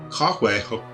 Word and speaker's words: Cahue: It's not at all how it's spelled. It's one of those old Gaelic kind of sounding names, but I've already been told it's like sort of French, Spanish, Basque, Pyrenees kind of thing.